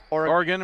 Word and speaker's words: Oregon: No, actually, I think it's Oregon, Wisconsin, yeah, well, right? I was just having some fun with it. Oregon? Oregon, Wisconsin. Oh, they do pronounce it like the state?